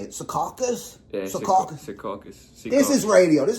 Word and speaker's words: Secaucus: Yeah, Secaucus.